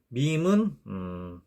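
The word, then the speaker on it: ميم: 그런데 이런 식으로 표기를 하면 되고, 요 밈은 양 입술을 사용해서 내는 소리입니다. 밈 이런 식으로요. 그래서 밈은 영어의 M과 발음 기호를 M으로 표기를 합니다.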